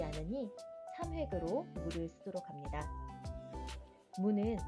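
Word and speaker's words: む: 무는 우리말 무와의 중간으로 발음합니다. 입술이 튀어나오지 않도록 발음에 유의하세요. 무도 발음을 듣고 함께 써 볼까요?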